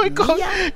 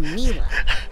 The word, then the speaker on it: Mila: Well, it's short for Camila, you know? But when I first started here, Sasha mispronounced it and I thought it was so cute. I didn't have the heart to correct him, and now I kind of like it, darling.